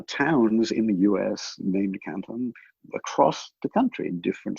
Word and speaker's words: Canton: I think locally it's pronounced Canton, because I think in